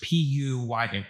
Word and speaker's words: Puya: How you spell that? Puja? Puya.